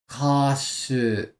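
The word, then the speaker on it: 歌手: Kashu.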